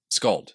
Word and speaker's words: skald: Skald. He is the god of skalds. Yeah. Skald. Skald. Yeah. Skald. Yeah. A U pronunciation of the A. Like the romantic A, the skald.